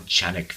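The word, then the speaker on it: Canik: This one happens to be from Sarsilmaz, whereas the last one I was bringing you was from Chanik 55. And yes, I'm pronouncing that correctly because I was corrected by a Turk.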